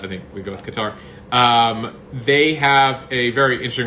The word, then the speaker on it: Qatar: So Qatar or Qatar. I mean, there's various pronunciations. Qatar. I say the American. Qatar. I say the Americanized version. There's many ways to say. I mean, in the official Arabic, it's a Qatar, but I think we go with Qatar.